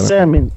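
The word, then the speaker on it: Getsêmani: Se não for esse o... a pronúncia é essa mesmo. A pronúncia é essa, Getsemane.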